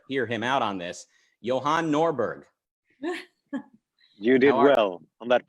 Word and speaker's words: Johan Norberg: think we'd better hear him out on this johann norberg you did well on that pronunciation i'm good thank you thanks for inviting